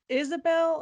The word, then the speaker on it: Isobel: It's Isobel, apparently, but the way it's spelled, it's definitely like a Scandinavian looking spelling.